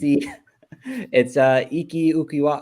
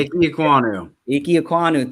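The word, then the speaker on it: Ikem Ekwonu: I'm going to say his name wrong. It's Iki Ukiwa. I can't say his name. I'm not going to say his name. Iki Ekwonu.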